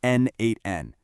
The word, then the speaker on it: n8n: The second piece of our puzzle is N8N and that's pronounced N8N.